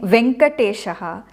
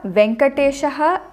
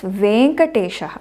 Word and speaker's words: Venkatesha: is always vankata shaha but it is not being venkatesha in samskritam but other local languages which do have the short a in those languages like for example in kannada there is a short a so in kannada venkatesha is fine but in samskritam it is always vein katasha a i o do